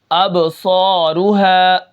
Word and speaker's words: ابصارها: حمزہ با زبر اب، صاد الف زبر صا، اب صا، را پیش رو، اب صارو، ہا الف زبر ہا، اب